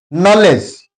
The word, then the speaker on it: knowledge: Knowledge K is followed by N. That's why K is silent etc.